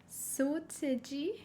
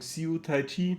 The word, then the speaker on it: Seo Taiji: mir wirklich sehr leid auf deutsch würde man sagen seataiji aber uns wurde gesagt dass es falsch ist.